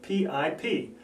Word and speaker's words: PIP: PIP rhymes with SIP, rhymes with tip.